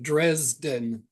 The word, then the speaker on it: Dresden: time we love you you did you did pronounce that right Dresden D Dresden is the name of a a